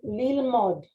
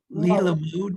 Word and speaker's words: lilmod: Lilmod, because this is an O. Lilmod. Oh, so you don't pronounce the second. Right. Remember. Okay, Limod. Yeah. Okay. Remember, this vowel is silent. So it's lilmod.